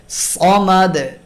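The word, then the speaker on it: صمد: দিয়ে উচ্চারণ করা হয়, এবং দাল হলো পাতলা আওয়াজে পড়ার হরফ, তাই কলকলার আওয়াজটাও পাতলা হয়। আহাদে, সমাদে, কখনো আহাদ, সমাদ এরকম হবে না, অনেকে এরকম পড়ে আহাদ, সমাদে, সমাদ, মাদ, এটা হলো ভারী আওয়াজ। তো এভাবে পড়বো না, পড়বো হলো সমাদে।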